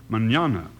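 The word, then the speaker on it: mañana: word Manana spelled m n n a and pronounced Manana in Spanish that means tomorrow very pretty sound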